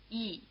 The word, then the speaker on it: yi: Yi. It's written yi, but you can't always hear the y as a separate sound.